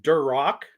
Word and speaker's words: Duroc: is it a Herford a duroc pronounced Durock Poland China or Berkshire